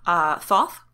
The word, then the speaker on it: Thoth: And also, and there are a million ways to pronounce this name, and there's no officially right way, I just want to remind you all of that, Thoth, Thot, or Thot, it depends who you are.